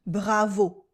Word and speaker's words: Bravo: The accent is on the final sound. Bravo !